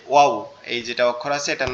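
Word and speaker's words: واو: আমরা যে অনেক সময় ওয়াও বলি, কোন একটা ভালো জিনিস দেখলে কি বলি, ওয়াও কি সুন্দর। তো এটার উচ্চারণটাও এরকম ওয়াও, ঠিক আছে?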